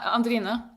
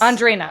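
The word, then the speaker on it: Andrine: So, you and your sister Andrina, am I saying that right? Yeah. Andrina. Yes. Andrina. Okay.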